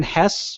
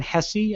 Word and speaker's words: Hesse: now sprint has moved dan hess or dan hessey i don't people pronounce his name both ways and said you know